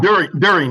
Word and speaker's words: Deering: And so we're happy to have CARB staff on the line, and in particular, Deering. Hopefully I'm pronouncing your last name right. Good enough. During, yes.